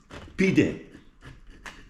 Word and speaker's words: pide: Pide, the way to speak in Turkish.